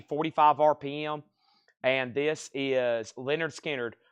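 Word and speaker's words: Lynyrd Skynyrd: RPM and this is Leonard skinnard pronounced Leonard skinnard cut from the original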